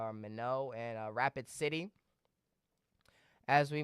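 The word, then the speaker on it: Minot: to Minnesota, mainly in the Dakotas, near Fargo, Mino, or I believe I'm pronouncing that right, Mino and Rapid City.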